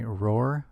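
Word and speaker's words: Rohr: We'll be using a software known as 3D Holy Land, developed by Roar Productions. That's spelled R-O-H-R, Roar Productions.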